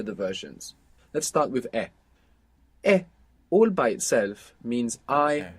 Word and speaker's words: he: versions let's start with e all by itself means I have it's spelled h e and of course we have the silent h there from Aber in e h e I have we